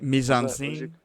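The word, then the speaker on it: mise en scène: Yeah, so think mise. How do you spell it? So I'll just phonetically mise, like MEES. Think it that way. On, like mise? On something, then scene, just like a movie scene.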